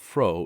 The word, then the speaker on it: Fro: was unquestioned as Fry's name of fro is phonetically the same as the word used in German for gladness he was considered the